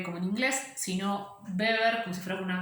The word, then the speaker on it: Weber: O sea, fíjense que yo no le digo Weber como si fuera una W como en inglés, sino Weber como si fuera una B corta, eso porque es alemán, y en Alemania la W se pronuncia como B.